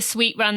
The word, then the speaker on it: Suite Run: We said the Sweet Run, that's spelled SUITE Run podcast.